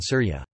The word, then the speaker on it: Sūrya: The classical Arabic pronunciation of Syria is Syria, as opposed to the modern standard Arabic pronunciation Syria.